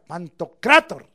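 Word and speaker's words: Pantocrátor: metí a Apocalipsis 167 es pantocrator con acento en la a pantocrator o pantocrator Perdón Leí mal pantocrator el y significa fíjese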